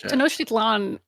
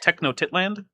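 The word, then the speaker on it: Tenochtitlan: also yeah in like Tanoshitan was absolutely astounding I'm sorry I believe it's pronounced techno titland freaking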